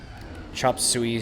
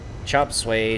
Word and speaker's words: Chop Suey: lost ground C moment Chop Suey Chop Suey I I pronounce it as sway I don't know what that second word is I Cry chop sway chop suey s-u-e-y potato potato whatever floats